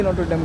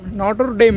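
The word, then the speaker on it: Notre Dame: করে বাখানো তার মানে এদিক দিয়ে গিয়ে এদিকে নট ড্যাম কলেজ মজাদার বিষয় কি জানেন আমি এতদিন পড়ে আসছি নট ড্যাম আসলে উচ্চারণ হবে নট ড্যাম মানে ভাই সরি মিস্টেক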